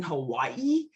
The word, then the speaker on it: Hawaii: What most people don't realize is the W in Hawaii is actually pronunciated in the Hawaiian language as a V.